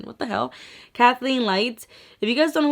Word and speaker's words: Kathleenlights: Kathleen, I don't know why I was saying Catherine. What the hell? Kathleenlights.